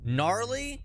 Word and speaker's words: gnarly: Gnarly should not be spelled with the G. I do not care. It breaks all the rules. It's not gnarly. So gnarly is with an N only.